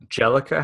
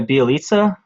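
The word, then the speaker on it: Bjelica: And the only really other guy that I'm interested in here for many is Jellica. How do you pronounce that? My boy Bielitsa?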